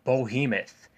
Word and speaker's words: Behemoth: It's pronounced Behemoth.